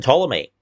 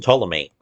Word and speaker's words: Ptolemy: Susan Ptolemy, the P in Ptolemy is silent, is a temperamental and